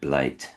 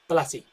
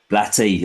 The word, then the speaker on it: Blatty: Directed by William Freaking and written by William Peter Blake. Blatty. Blatty. I'm so Look, I really really do apologize for my pronunciations sincerely.